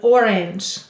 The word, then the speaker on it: orange: The first syllable is or. The second syllable is ange. A-n-j. Silent final E.